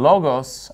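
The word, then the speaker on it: λόγος: in O logos and notice in logos I'm putting the stress on the first syllable because that's where the accent mark is and are he inos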